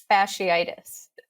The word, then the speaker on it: fasciitis: this word facilities how do you say it fasciitis fasciitis so the the the magical diagnosis of